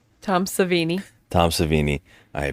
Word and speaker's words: Savini: and uh good on them for giving Tom serini a uh I said his name wrong Tom savini Tom savini I pronounced I'm so sorry um